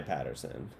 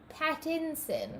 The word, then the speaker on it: Pattinson: I would ride or die Patterson. Pattinson. What am I saying? Patterson. It's like a... I would ride or die, but I can't pronounce his last name right.